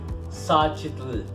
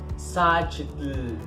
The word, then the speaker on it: Xochitl: Xochitl. Xochitl.